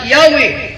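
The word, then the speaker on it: Yahweh: nagingon translators Believe Why read as yahwe and the name Jehovah incorrectly derived from that so yah daw ang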